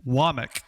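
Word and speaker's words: Wommack: Kane Wamik is how you pronounce this. It's spelled like WAC, but Kane Wamik is the defensive coordinator at Alabama.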